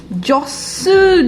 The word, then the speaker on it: jostled: बहुत ज्यादा भीड़ थी, jostled by the crowd. Please ध्यान दीजिएगा कि pay attention, the T is not supposed to be pronounced in this word.